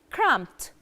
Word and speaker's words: cramped: and then we have cramped cramped cramped and here we have the final sound is I write D but what we say is to cramped cramped so I write